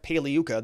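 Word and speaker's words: Pagliuca: think it was jeff paliyuca the g is silent when he was cross-examining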